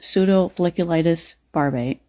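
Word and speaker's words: pseudofolliculitis barbae: A lot of black people who have facial hair suffer from a condition called pseudofliculitis barb.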